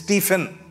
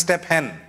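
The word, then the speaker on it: Stephen: m you know the stepen yes it's not pronounced stepen it's stepen right some people says step hen when they're reading the Bible it's called stepen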